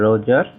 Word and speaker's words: Roger: আজকে আমরা আলোচনা করব ডেট অফ স্যার রোজার বা স্যার রোগার। আমরা এখানে স্যার রোজারকে উচ্চারণ করছি কারণ এখানে জিইআর সাধারণত রোজার উচ্চারণ হয় আর জি আপনার এআর রোগার উচ্চারণ হয়।